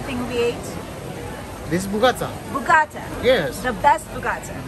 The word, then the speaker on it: Bougatsa: This is Bougatsa.